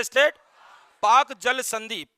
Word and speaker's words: Palk: पाक जल संधि, PALK, एल साइलेंट रहेगा, पहले भी बता चुके हैं।